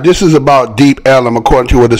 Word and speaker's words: Deep Ellum: The area was originally called Deep Elm, but the pronunciation Deep Ellum by early residents led to its current and historical accepted name.